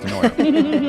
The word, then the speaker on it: DeNooyer: That's spelled weird, but it's pronounced DeNooyer.